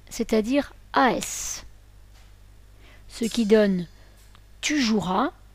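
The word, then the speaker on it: joueras: as ce qui donne tu jouras on ne prononce pas tu joues ea le E doit rester muet j'insiste si l'on a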